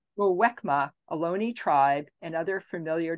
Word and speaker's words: Muwekma: Jane, please help me pronounce it correctly. Muwimaka. Muwekma, Ohlone tribe, and other familiar descendants of the Verona Band.